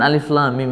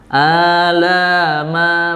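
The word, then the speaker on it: الم: seperti apa gitu misalkan Shad tadi itu benar-benar Shad karena ee pelafalan huruf hijaiahnya atau huruf aslinya adalah Shad ya Jadi bukan SH bukan SH gitu atau misalkan Alif Lam Mim Ini ya Bukan Alama Bukan gitu ya tapi huruf aslinya apa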